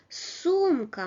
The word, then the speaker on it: сумка: So, сумка, масло, овощ. The first syllable is stressed.